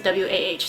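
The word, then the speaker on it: Wah: His name is W-A-H, so it's Wa.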